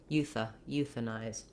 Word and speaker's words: euthanize: The IZE has a voiced Z sound and the diphthong I.